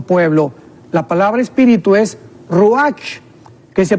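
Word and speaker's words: רוח: La palabra espíritu es ruach, que se pronuncia ruach también.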